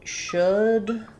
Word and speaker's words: should: So should and look both have the uh vowel that we've been talking about in class today and that I'll be covering in detail on the pronounced English speech channel um next weekend. Um so even though this one is spelled with o u and an l and this one is spelled with oo, they are the same.